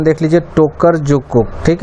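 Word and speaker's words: Tokarczuk: तो मान Booker international price के विनर 2018 के जो थे ओल्गा की, इसका प्रोनाउंसिएशन देख लीजिए, टोकर जुकुक।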